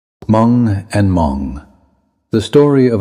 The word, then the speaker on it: Mong: Mong Leng speakers generally pronounce it without the initial H sound, producing Mong.